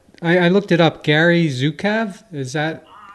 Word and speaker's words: Zukav: Gary Zukav, is that? Zukav, okay. Zukav, yeah. I have to apologize that my pronunciation, as my spelling, has gone out the window living in Italy.